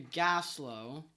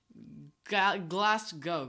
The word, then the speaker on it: Glasgow: Okay, yeah, so we went from Aberdeen to Gaslow. No, I didn't say that right. I think it's pronounced Glasgow.